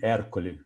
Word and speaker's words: Ercole: Só corrigindo a pronúncia aí, Ercole. Italiano. Ercole. Almirante Matias, prazer ouvi-lo aí.